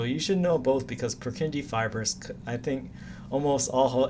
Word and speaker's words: Purkinje: common name purkinje fibers i think the original pronunciation is more like perkinia or something like that i don't speak was it czech i forgotten or polish but yeah whatever it is like most people say purkinje or some something like that